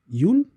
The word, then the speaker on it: Youn: Yoon, I believe that's pronounced.